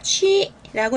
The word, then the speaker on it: 区: 구역구자는 중국어로 읽을 때는 취라고 읽으시는데요.